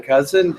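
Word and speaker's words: Kousen: It's cousin like the relative.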